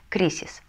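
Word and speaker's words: crisis: следующее слово слово кризисски мы прочитаем как кризис кризис заканчивается на эссе значит ударение на пред последний слог кризис следующее слово яблоко мансана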